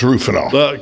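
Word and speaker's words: Rohypnol: rool Ro ranol ruol well it's r h y but it's it's pronounced ruol called ruies is what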